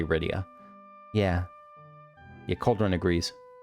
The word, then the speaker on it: Rydia: rydia thank goodness i remember as a kid not being sure if it was right i think i pronounced it rydia for a while and then i stopped because it's clearly rydia yeah your cold one